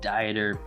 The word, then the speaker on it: Dieter: Wy and Dr Brad deer which should be pronounced Dieter best name of nutrition from a free Facebook